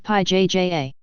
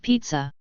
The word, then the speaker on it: pizza: It's<unk> not pi ja. It's<unk> pizza. Say it properly. Wait, you're mispronouncing it, too. There's a t in the middle. Pete Zah, don't<unk>t correct my English, Ashok.